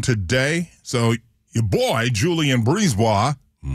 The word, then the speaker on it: Brisebois: So your boy, Julien Brisebois, mm-hmm. How do you say his last name? Brisebois.